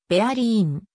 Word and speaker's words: Berlin: の会話における一般的な発音ではベアリーん bdn となる感じではベルリンと